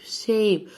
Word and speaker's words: shape: كلمة يشكل الاس اتش بننطقها ش اس اتش ش shape والاي في الاخر ما بننطقهاش.